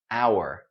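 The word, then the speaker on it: hour: not natural okay and here we have the spelling with H but we don't hear it this word is pronounced our so high denier high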